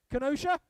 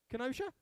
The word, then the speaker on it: Kenosha: city i don't know if i'm going to pronounce this right don't throw bad fruit at me kenosha kenosha oh nailed it bring me back next year